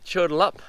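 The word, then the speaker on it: Chudalup: here you see how we go now mount turtle up that's how you pronounce it there's a huge granite outcrop and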